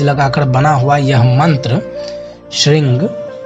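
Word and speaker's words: श्रीं: कोशिश कीजिएगा कि श्रृंग में ग का उच्चारण ना हो और ह्रिंग में ग का उच्चारण ना हो, जिसे श्रृंग ह्रिंग सरस्वत्यै स्वाहा इस तरह से उच्चारण कीजिएगा तो ज़्यादा ये श्रेष्ठकर है।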